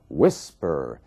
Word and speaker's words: whisper: Você vê que a força da palavra, a sílaba tônica, está na primeira parte. Whisper.